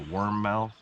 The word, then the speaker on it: warmouth: breasts we've got um War mouths I think that's how you say it might be a worm mouth pretty sure it's warmouth warm mouth yeah yeah um